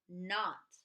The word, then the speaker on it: knot: how would we sell not that's right we're gonna use the KN the K is silent number three the dog